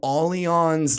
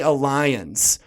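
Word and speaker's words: Allianz: a really big insurance company up here called aleon's life insurance and the name itself you when you look at it if you're not familiar with them almost people will say alliance because it's a-l-l-i-a-n-z yeah nothing makes you look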